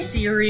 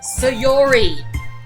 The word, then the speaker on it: Sayori: much time together did i say siri again dang it sayori damn why do i keep pronouncing your name wrong i can't really say